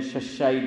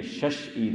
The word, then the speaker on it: شش عید: ہم لوگ بولتے ہیں ششا عید نا روزہ، کس کے روزے، ششا عید، ہاں یہ ششا نہیں ہے، یہ شش عید ہے، پر આપણે ગુજરાતી લોકો